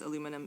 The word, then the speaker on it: aluminum: Aluminium, by the way, is the preferred name in uh or name and pronunciation in British Commonwealth English. It's the same thing as aluminum in American English.